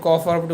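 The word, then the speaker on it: ق: এর পরের হরফটি ক আপনার জিহববার গোড়া উপরের তালুর সাথে লাগিয়ে এই কফরটি উচ্চারণ করবেন। একটু মোটা হবে কফরটি।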